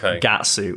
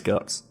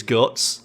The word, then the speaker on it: Guts: It's actually pronounced Gatsu. And then there's that interview with the writer of Berserk where he's like, no, it's Guts. So he just straight up, it's Guts.